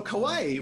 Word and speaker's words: kawaii: So kawaii is pronounced a lot like Hawaii.